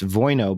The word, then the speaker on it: Wojno: by the way for folks out there it's voi no but it's pronounced written woj and oh so it's nicole Voina smith vp of marketing tackle that i oh